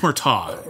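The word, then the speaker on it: Murtaugh: than it is about Murtagh and the relationship Riggs has with Murtagh it's just Murtagh you don't pronounce the G it's gh it's a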